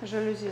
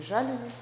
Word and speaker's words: жалюзи: Жалюзи закрыты. Или жалюзи. Опять жалюзи. Неправильно ударение ставлю.